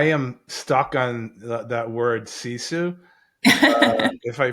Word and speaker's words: sisu: I I'm I am stuck on that word ciu if I pronounce it right. I really I really love it. Um, si is it sisi or s i su?